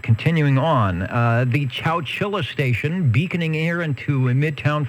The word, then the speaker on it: Chowchilla: back in the mid-'70s, was it Walter Cronkite who called it Chowchilla, which I suppose is the correct pronunciation if you don't live close by.